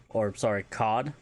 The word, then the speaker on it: kad: If you want to talk about swords, they are COD, singular, KAD, which is a sword or saber.